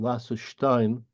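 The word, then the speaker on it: Laserstein: s t e i n uh you might pronounce her name lassin either way lassin 1898 to 1993 German and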